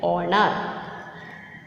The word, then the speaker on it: honor: So, in the same way, honor. Honor, the word honor. Honor means it is beginning with the H, but it is silent.